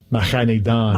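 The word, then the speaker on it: Mahaneh-Dan: Mahanidan. Mahanidan. Mahanidan. Mahanidan. Remember, it's done, not Dan, not Dane, Dane, and not Dean.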